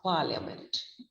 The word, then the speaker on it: parliament: careful with the pronunciation the first syllable par is long stressed rhyming with card but the other two syllables have the weak vowel so the pronunciation is par leah meant that means here there